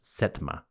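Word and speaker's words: Setem: He was the setm probably pronounced setma.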